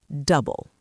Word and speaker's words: double: Double. Double. The recipe calls for double the sugar. He doubled his savings this year. The stress is on the first syllable, double.